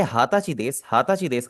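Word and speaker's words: 二十歳: हाथाची देश। हाताची देश का मतलब हो जाएगा मैं 20 साल का हूं। हाची का मतलब होता है 20 इयर्स ओल्ड। आपने नीचुसाई नहीं बोलना आपने बोलना है हाथाची।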